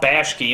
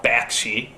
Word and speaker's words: Bakshi: never quite pronounced correctly like judge Hirsch instead of Judd Hirsch Ralf Bosch key instead of ralph bakshi but the biggest one